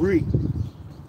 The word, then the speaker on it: Rhea: Greece in honor of Re. If I can say it right, Re, R-H-E-A, Re, the mother of the Rhea, right, Salaki, Rhea, the mother of the gods.